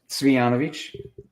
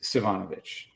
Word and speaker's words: Cvijanovic: do that to you it's pronounced sanovich sanovich yes and the easy way to say it is savanovich savanovich yeah that's easy enough yeah so um